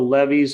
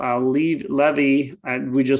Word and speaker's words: Levy: Also, when we show the movie on Admiral Levee, I just learned recently it's pronounced Levy in his case.